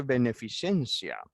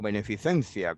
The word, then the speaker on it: beneficencia: proponen siete puntos fijaos que no dice beneficiencia o beneficencia como se pronunciaría que en españa dicen